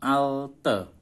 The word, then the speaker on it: altı: 6 alte, bukan I itu tapi E.